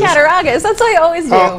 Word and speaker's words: Cattaraugus: I think CCLS, which is the library system here for Chautauqua, and I always pronounce this wrong, Cattaraugus. Is that right? No, Cattaraugus. Cattaraugus.